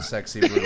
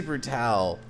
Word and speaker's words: Brutale: It's just the Sexy Brutale, but, like, if they wanted it to be pronounced that way, they should have put an accent over the A and not had an E.